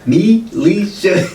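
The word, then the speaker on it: Me'Le'Sa: Me Lisa. That's how she pronounced it, like me Lisa, and it's just like, damn it, was your mom sounding it out as she spelled it like this?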